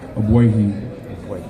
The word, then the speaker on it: Ogbuehi: Give us the correct pronunciation of your last name. Ogbuehi.